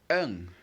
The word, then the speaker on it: un: So the first is un. Un. Un, of course, is spelled U-N.